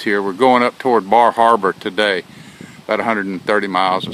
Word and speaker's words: Bar Harbor: very pretty country and the little town of Bar Harbor or as they pronounce it baraba is on this island